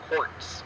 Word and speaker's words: Kautz: our smaller stones and this is of Robert quartz uh it's pronounced almost like Jewel quartz um so what